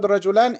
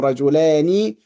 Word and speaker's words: رجلان: So the word rajulan is in the nominative case. Even there is a kasra, because the kasra is not relevant here. The marker for the nominative is the alif and nun. And the kasra here is just for the pronunciation of the nun.